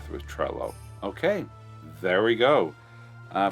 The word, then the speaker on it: Trello: you got right through trello okay there we go uh from trello themselves it is not trio it is or treyo it's trello okay i stand corrected